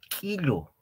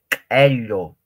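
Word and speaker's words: q'illu: Cuando hay la presencia de un apóstrofo, en pocas palabras, más o menos se pronuncia como si nosotros estaríamos haciendo reventar o explotar algo, ¿no ve? Que, quello, quello, no es quilo, tampoco quilo, sino quello, quello, que, no es quilo, tampoco quilo, sino quello, quello.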